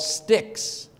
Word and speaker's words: stich: or more parts called sticks. S-T-I-C-H-S, pronounced stick, like a stick, you know, breaking a stick.